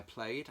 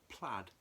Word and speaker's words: Plaid: has a production by played I call them played there are super gene pronounced plaid however I would call an employed for years and I'm not gonna stop doing it now and also Alec Empire